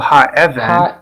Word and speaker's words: האבן: And here's a stress on the first segol, ha'even.